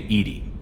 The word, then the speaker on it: EDI: Why are you named Edie? ED is the phonetic pronunciation of EDI. That is an acronym for Enhanced Defense Intelligence.